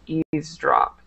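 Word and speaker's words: eavesdrop: silent or not yeah we don't typically uh sometimes people will pronounce the V but we don't usually pronounce that V so it's just EAS drop EAS drop EAS drop okay very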